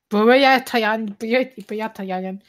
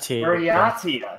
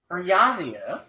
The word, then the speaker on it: Buryatia: I cannot pronounce that. Is what? Burayatayan.